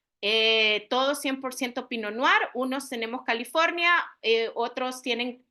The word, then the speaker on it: Pinot Noir: verdad Cómo se pronuncia ya nunca más vayan a pronunciar pinot no ir sino que vamos a pronunciar pino noar verdad son dos palabras francesas porque de ahí tiene su origen y significa pino de